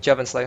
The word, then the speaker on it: JevynSlayer: So yeah, just to talk more about I am probably butchering his name and I apologize in advance. No, that's how you pronounce it, Jevon Slayer.